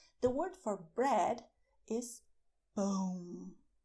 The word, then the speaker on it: pão: So if you go to a bakery, you should ask for "PÃO", not "PAU" because you will avoid misunderstandings if you do the sound